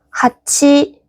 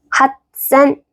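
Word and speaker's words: はっせん: 1만은 있지망, 8천은 하치센. 근데 하치센 발음이 불편하네. 그래서 핫센.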